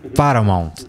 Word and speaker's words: Paramount: Como é que é a pronúncia do Paramount? Sempre com essa gracinha, né? Paramount.